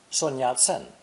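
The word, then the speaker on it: Sun Yat-sen: china and taiwan's case sunyat sen whose english name is transliterated from the cantonese not mandarin in mandarin his name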